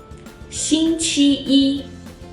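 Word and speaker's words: 星期一: In words containing the character 一, when 一 is at the end of the word or it's just used alone as a character, its tone doesn't change. For example, 一, 第一, 星期一, 11.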